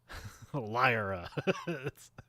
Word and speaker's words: Lyra: But it's pronounced the way you're saying it. Okay. Lyra.